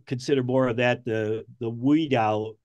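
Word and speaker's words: Oudin: Now, the picture you have on the right, which you call the Tesla multi-wave oscillator, I would consider more of that the Woodin, it's spelled O-U-D-I-N type of coil.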